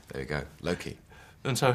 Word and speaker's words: Loki: Well, he's Welsh, so maybe that's. I think he says Loki, Okay. like that in his deep gravitas, sincere way. Yeah, there you go, Loki.